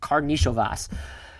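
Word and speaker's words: Karnišovas: I tried to look this up phonetically beforehand. It is Karnisovas.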